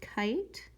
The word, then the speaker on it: kite: I'm going to write the word kite on my line. I, t. It has a silent E at the end, telling the I to say its name.